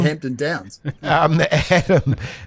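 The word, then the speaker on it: Hampton-Downs: How do you say hemp? It's so hard to say Hampton. Yep, you got it the third time. James, yes. You nailed it when you said Hampton Downs.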